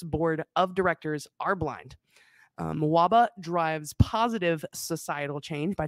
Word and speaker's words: MWABA: Metro Washington Association of Blind Athletes, we're going to call, how were we pronouncing it earlier? I say MWABA. That's what we're going to call it from now on.